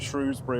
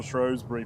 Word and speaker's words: Shrewsbury: That's one of that's one of those is it Shrewsbury or Shrosbury debates that that's there. It's just divisive, isn't it? Yeah, it's a good one. Actually, I wouldn't say Shrosbury or Shrewsbury. I think if I read it, I'd say Chbury, but if I was